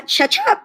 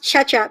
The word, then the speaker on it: Tjetjep: is um it's uh chechup it's pronounced chechup so it's really funny when i was younger i used to tell people it's like ketchup but with a churro cha-cha um it's indonesian so